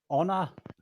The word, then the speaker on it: honor: um that's interesting and it's a silent eye so it's honor but there you go